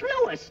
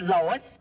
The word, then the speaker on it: Louis: Me name is Lewis, not Lois. Gee whiz, everybody interpolates me name wrong. It's Lewis.